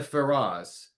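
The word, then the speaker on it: Feroz: She was nominated once, but she's also a um uh she has won the Ferras, that's spelled F E R O Z, which is the Spanish Emmy.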